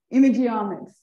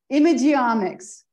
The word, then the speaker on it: imageomics: Thank you for inviting me and for the opportunity to tell you about this new field of, the new field of science, imageomics.